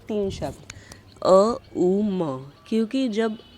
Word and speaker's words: ओम: तो कभी भी आपको ओम नहीं बोलना। आपको बोलना है तीन शब्दों में अ उ म that is the perfect one.